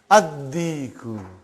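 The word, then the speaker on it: الديك: Ad-Diku. Why you did not pronounce Lam? Because it is sun letter.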